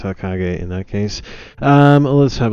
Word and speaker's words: Hokage: Hawkage. Hokage. Hokage. Wow. Yeah, from Naruto. That sounds Japanese. Hokage. Okay, so it's Hokage in that case.